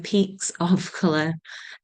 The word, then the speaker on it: Peaks of Colour: I have to be really careful how I pronounce it because I've been told that my Yorkshire accent makes it sound like I'm saying pizza. So Peaks of Colour.